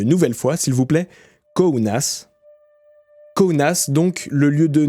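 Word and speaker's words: Kaunas: n a S et ça se prononce kounas c'est subtile alors on va le répéter une nouvelle fois s'il vous plaît kounas kounas donc le lieu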